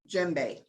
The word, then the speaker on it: djembe: Yeah, this is a Toka djembe. All right. So you don't, it's spelled D-J-E-M-B-E. You don't pronounce the D.